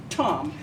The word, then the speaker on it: Thom: It's pronounced Tom. It's written like Thom, but it sounds like Tom.